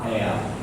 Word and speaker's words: heir: HEIR എയർ. ഇവിടെ H silent ആണ്, നമ്മൾ ഉച്ചാരണം എയർ എന്നാണ്.